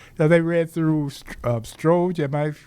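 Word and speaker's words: Strzok: about Trump, and they said they read through Stroge. Am I pronouncing it right? Yeah, Stroge.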